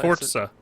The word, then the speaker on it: Forza: Forza Forza Forza Forza it's pronounced like you would say pizza you know you add the te in there was up thank you Dusty thank you do you say Piza it's Italian no you add a t it's Forza it's Forza Italian you don't see Pizza